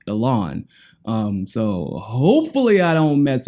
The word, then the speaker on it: Ilhan: attacking yell on Omar Alon I've been pronouncing her name wrong this whole time again but some of my gracious subscribers have corrected me and told me it's pronounced the lawn so hopefully I don't